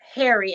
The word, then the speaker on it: Pherry: by day, and Tyler Harry at night. So it's spelled Pherry, and the P is silent.